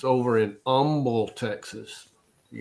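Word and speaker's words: Humble: yeah it's over in Umble Texas you got to say it right Umble Umble that's the where xon began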